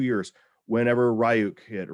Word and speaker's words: Ryuk: Whenever Ryuk hit, or Ryuk, however you want to pronounce it. I'm a gamer, so it's Ryuk.